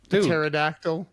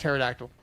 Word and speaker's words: pterodactyl: and then p yeah why would you put a p why is there a p in front of the in front of pterodactyl why is that does not make sense no Colonel though Colonel's